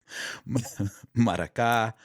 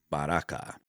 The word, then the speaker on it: maraka: Others believe that it stems from a word common to several American languages of the Caribbean and South America, namely maraka. Pronounced maraka, maraka, and baraka.